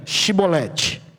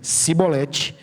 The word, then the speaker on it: chibolete: Se respondesse que não, os homens de Gileade lhes diziam: "Então diga chibolete". Se ele dizia cibolete, então não podendo pronunciar corretamente a palavra, eles o agarravam e matavam nos valquele tempo, foram mortos 42.000 efraimitas.